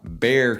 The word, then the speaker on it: Bexar: You also have, big one, Bexar County. Bexar is Bexar County. Don't get that confused either. It's not Bexar.